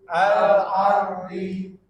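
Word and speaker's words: الأرض: A-nya di mana? A a biasa alardi. Alardhi Bapak ada ain agak ke ain jadi al alardi.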